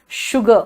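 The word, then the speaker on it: sugar: बेटा पॉइजन जो अभी थोड़ी देर पहले कहा था कि जहां पे एस है उसका 3 प्रोनाउंसिएशन निकलता है. देखो शुगर मैंने कहा था ना.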